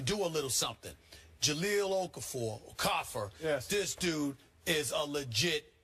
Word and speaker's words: Okafor: Listen, Karl Anthony Towns and Jahlil Okafor, Okafor, that's the way they say his name is pronounced.